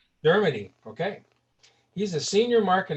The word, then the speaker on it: Dermody: Dermody. Dermody.